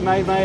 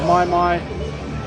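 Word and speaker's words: maimai: Got May May. I'm pretty sure someone said it's pronounced my my.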